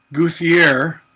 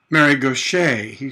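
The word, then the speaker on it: Gauthier: GA you th yeah it looks like goofy air but it's actually married Gautier she pronounces it it's a French alright and the other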